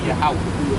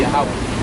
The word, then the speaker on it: Yahweh: Yahweh. You say Yahweh? Yahweh. Well, yeah, you're on the right track, brother. It will actually be Yahweh. Yahweh. Yahweh. You go into the Tetragrammaton, it will be Yahweh.